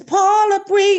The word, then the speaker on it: Paula Breon: This is Paula Breon. Yeah. I had to shout out my sister. I told her that's how when we say her name, that's how we do that.